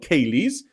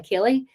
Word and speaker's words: ceilidh: So the first thing we're going to talk about is that people have special parties called Ceilis, where people do Scottish country dancing.